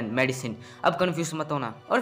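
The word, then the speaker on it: Madisynn: और ये मेडिसिन दवाई नहीं है, इसको प्रोनाउंस किया जाता है MEDYSIN मेडिसिन।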